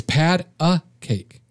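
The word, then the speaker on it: pat-a-cake: It's not Patty. It's pad a cake.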